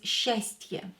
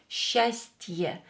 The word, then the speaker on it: счастье: So we have to write te here is as well, even we don't pronounce it.